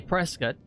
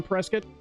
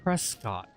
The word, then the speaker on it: Prescott: But I know you guys say Prescott, Mm-hmm. and other people outside of the You state, mean the rightful capital of Arizona, Prescott? and other people from the outside would say Prescott. Yeah. Other people, wrong people.